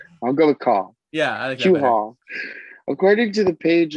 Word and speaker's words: Cole: hoping that was right i was thinking i was saying cue haul but call that sounds better i'll go with call yeah according to the